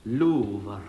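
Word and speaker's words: Louvre: Pronounced Lou.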